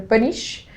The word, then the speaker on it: Panichi: meu Instagram é Giopanic, P-A-N-I-C-H-I, se escreve Paniche, com 2 I's no final.